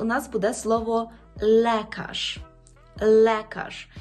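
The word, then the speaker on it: lekarz: Отже, ви вже знаєте, що «л» у польській мові завжди м'яке, а «е» завжди вимовляється як «е». Що ж нам тут зробити? Наприклад, у нас буде слово «лекаш».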